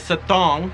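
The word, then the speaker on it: Sathorn: When it's spelled, it looks like Sawthorn, but I was staying at Satong.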